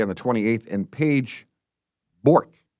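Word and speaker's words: Bjork: And Paige Bork. Right, you don't pronounce the J. B J O R K. Okay. Bork.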